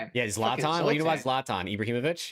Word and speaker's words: Zlatan: Zultan. Yeah. Zlatan.